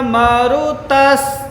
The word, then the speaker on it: मरुतः: अगर यह व्याकरण की दृष्टि से देखेंगे, यहाँ पर होगा यम ब्रह्मा वरुणेन्द्र रुद्र मरुतस् स्तुन्वन। यहाँ पे 2 सकार का उच्चारण होगा, मरुतस् स्तुन्वन्ति दिव्यैस्तवैः।